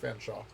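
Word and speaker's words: Featherstonehaugh: Featherstone Hall, which is actually, Lori was informed by someone who's pronounced Fanshawe.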